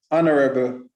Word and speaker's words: honorable: Our, honest, honor, honorable, and heir should not be pronounced with an H.